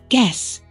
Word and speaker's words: guess: science talk listen not o right wrong hours guess silent letters first C in science l in Talk